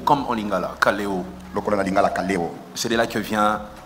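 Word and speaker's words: καλέω: Appel vient du grec kaleo. Ça s'écrit K-A-L-E-O, comme en lingala, kaleo.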